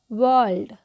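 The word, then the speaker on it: world: वर्ल्ड, वर्ल्ड, वर्ल्ड। ठीक है, वर्ल्ड। आर जो होता है वो साइलेंट हो जाता है।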